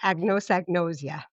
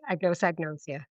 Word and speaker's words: anosognosia: And can you pronounce the term that's used for that lack of insight? Sure. Anosognosia. Yes. All the fun words that neurologists use. Anosognosia.